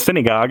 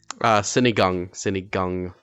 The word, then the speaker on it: Sinigang: So I went to go try Colton's famous synagogue. Am I pronouncing it correctly? Sinigang.